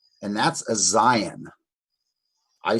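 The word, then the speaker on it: Zayin: And that's a Zion. I spell it Z-A-Y-I-N.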